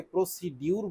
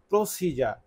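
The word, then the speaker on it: procedure: আমরা এখানে এই শব্দটির উচ্চারণ প্রসিজার বলছি। এ শব্দটা অনেকে প্রসিডিউর বলে। কিন্তু সঠিক উচ্চারণ হচ্ছে প্রসিজার সে কারণে আমি আপনাদের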